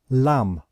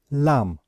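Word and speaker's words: lamb: word we pronounce it lam lam so we know that we do not pronounce the last letter b okay so with ipa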